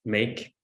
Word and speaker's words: MAQE: that I'm here representing so maqe pronounced make long story you can